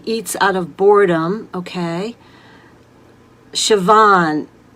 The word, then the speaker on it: Siobhan: Siobhan, and I'm so glad I know how to pronounce your name, that I'm not mispronouncing it the way it's spelled.